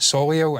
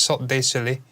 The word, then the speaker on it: Cirque du Soleil: Literally, how do you pronounce it? Is it Soleil? And I searched up. No, it's Cirque du Soleil.